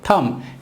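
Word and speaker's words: thumb: हैं हम तय करेंगे थम यहां पर एंड में बी है आपको बीच को प्रॉब्लम्स नहीं करना है हम सकेंगे इस थम बे साइलेंट होगा इस अंगूठे कहते हैं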